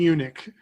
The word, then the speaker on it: Yunick: His name is Smokey Yunick. You got to be kidding me, right? No, Brilliant. It's not spelled like you would spell eunuch. It's Yunic.